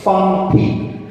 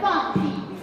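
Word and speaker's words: 放屁: Okay, no, this is how you say fart in Chinese. Fang pi. Mine is better, fun pee. Fang pi. For pronunciation, she just schooled me. The Asian. I'm the American-born Chinese. This is the Chinese-born Chinese. She's like, I said, it's fang pi.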